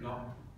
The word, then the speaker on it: 六: 然后六就是 lo，就跟落下的落差不多，但你试一下第二声，lo 应该是可以吧。